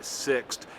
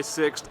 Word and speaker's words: Sixt: Yes, as you saw in today's vlog, I prefer Sixt. I always go for Sixt. That's spelled S-I-X-T.